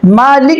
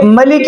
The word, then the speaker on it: مالک: میں بھی لہجے ہیں، ہم سورہ فاتحہ میں پڑھتے ہیں مالک یوم الدین، عرب کے ایک قبیلے کے لہجے میں اسے ملک یوم الدین پڑھا جاتا ہے۔ ایسے ہی قرآن میں